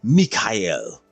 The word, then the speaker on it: Mikhail: other guy's name, and that guy's name was basically the equivalent of Michael, and he said it's Mikhail.